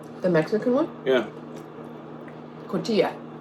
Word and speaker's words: cotija: Yeah, Cotija. cotija. I'm pretty sure that's how you say it. Cotija. The J makes the H sound.